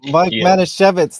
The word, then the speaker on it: Mike Manasweitsch: Mike Manasweitsch, did I say it right?